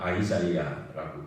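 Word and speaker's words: Isaiah: 그 영어로는 이사야를이 영화 이제 영어권 사람들한테 이사야 이사야에도 무슨 말인지 못 알아듣습니다. 그 사람들은 이사야를 아이자이야라고 발음하거든요.이 아이자이야하고 이사야하고 전혀 다르게 들리잖아요.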